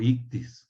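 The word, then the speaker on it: ἰχθύς: como se dicen en el griego ictus o ictus que así se pronuncias y esos este es Jesús es ictus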